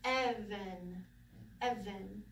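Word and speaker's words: אבן: We have that double sagol, so the accent's on the first one. So Evan, Evan, okay?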